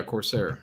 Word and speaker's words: Corsair: i don't know how to say this name corsier mm-hmm huh did i pronounce his name correctly close enough yeah corsair yeah corsair uh chamber was associated with what